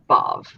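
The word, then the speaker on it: Badb: So it's apparently pronounced B-A-D-B is pronounced Bov, like B-O-V.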